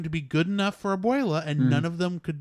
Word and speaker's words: abuela: But it was how do you pronounce it? Bovela? The grandmother. Abuela. Yeah, the abuela was just